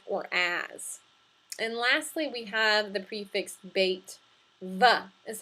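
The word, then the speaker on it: ה: patak or hey comets ha is the pronunciation for both of those when this prefix occurs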